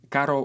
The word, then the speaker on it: caro: for the second pair Caro with one ER means expensive and Caro with two means a car this is a perfect